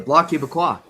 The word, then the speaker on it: Bloc Québécois: That's how you say it, the Bloc Québécois.